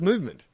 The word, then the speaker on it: MVMT: TOFOP is brought to you by Movement Watches, spelt MVMT, pronounced movement.